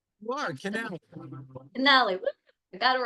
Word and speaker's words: Canale: time how are you I'm great handsome Canali am I pronouncing it right you are Canal Canali I got it right how are you today